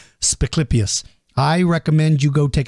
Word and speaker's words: Spiclypeus: Spiclypeus shiporum is the feature creature for this episode.